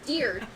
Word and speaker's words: Diurd: No, it's Diurd. Think of a deer.